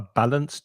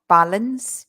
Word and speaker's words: balanced: end it's not a balanced diet it's a balanced diet the thing is in the pronunciation it's not easy to hear that D uh-huh but it's there